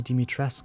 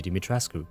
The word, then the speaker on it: Dimitrescu: in the first place, Lady Dimitresc, as she is called within the game, or Lady Dimitrescu, pronounced the way it should be and how I will refer to her throughout the video.